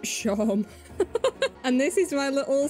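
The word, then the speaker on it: Seam: The names seem pronounced Shom.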